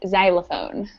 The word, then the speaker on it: xylophone: chobia chopon all right the last five sound like a z sound so it would be Xenon Xerox xenophobia and xylophone oh Z okay all right